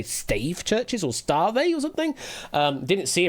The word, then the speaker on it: stave: It's just pr pronounced stave as in staff.